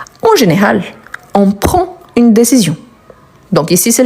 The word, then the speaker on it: prend: masculin pardon donc Roger prend je ne prononce pas le D à la fin des décisions intéressantes et